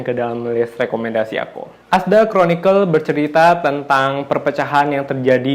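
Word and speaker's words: Arthdal Chronicles: Tulisannya Ardal Chronicle tapi dibacanya Asdal Chronicle.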